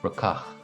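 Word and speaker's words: brocach: And down south in Munster, where I'm from, that would be pronounced more rucach, with the emphasis on the second syllable.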